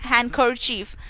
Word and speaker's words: handkerchief: while reading the word similarly the letters d p n and t are silent in the words handkerchief kabod solemn and the cells respectively okay so uh today